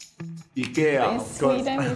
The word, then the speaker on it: IKEA: re say it again Ika so we pronounce the I very strongly Ika sometimes like in Swedish